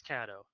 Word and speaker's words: Caddo: Hey, can you see if Amy knows the correct pronunciation of Caddo or Cato? You got everybody in chat is saying something like completely different. We go through this every time. Every stream, guys. Amy says it's Caddo. Caddo.